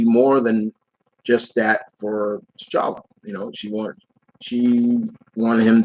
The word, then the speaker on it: T'Challa: Do you think when they introduce Storm, they'll make her a love triangle between T'Challa, lose the H. It's T'Challa. There's no H. It's just T'Challa, not how you say it.